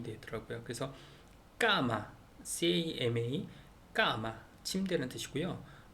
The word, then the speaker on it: cama: 그래서 세나 저녁 식사, 세네 이렇게 영화 이렇게 되는데 아오우하고 모음이 붙으면은 세하고 아오우하고 붙으면 끄 발음이 되더라고요. 그래서 까마, CAMA, 까마 침대라는 뜻이고요.